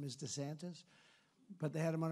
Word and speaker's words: DeSantis: sanus his name is DeSantis but they had him on a program ladies and gentlemen with proud to have the governor of Florida Mr Ron DeSantis they said no no no it's DeSantis that's good branding right